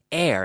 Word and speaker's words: heir: h e ir but it's pronounced like air as in ida air